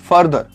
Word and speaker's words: further: फिर number 7 फादर, FARTHER, और फर्दर, FURTHER। ध्यान दीजिएगा कि इन दोनों वर्ड्स का प्रोनाउंसिएशन डिफरेंट है। पहला है फादर, फा, आ यूज होता है, और उसके बाद फर्दर, FUR, फर्दर।